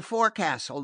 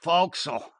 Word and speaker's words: forecastle: In the forecastle, the place where the sailors live," he explained, flushing and feeling doubtful of his pronunciation. "Oh, the fo'c'sle.